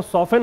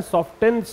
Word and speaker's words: soften: जाता है और इसका प्रोनाउंसिएशन जो है वो सॉफ्टन होता है, सॉफ्टेंस नहीं होता है। ठीक है, सॉफ्टन।